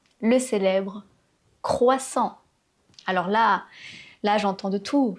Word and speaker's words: croissant: C'est pas "kwa", votre gorge doit vibrer. "Croissant". Et ensuite, on a le son "oi". Ça, je pense que c'est pas trop compliqué : "croi". Le double "S" qui se prononce ssssss et pas "croizant". Le "A" nasal qui forme la voyelle nasale "an" "croissant" et le "t" qui est muet. Ne prononcez pas le "t" à la fin de ce mot, "croissant".